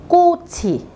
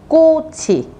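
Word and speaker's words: 같이: Nhưng khi có nguyên âm y đằng sau, các bạn sẽ phải đọc nối lên là cô chỉ, cô chỉ.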